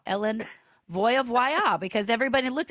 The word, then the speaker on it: Voie: It's Voya. Ellen Voya. Because everybody looked, it's spelled V O I E.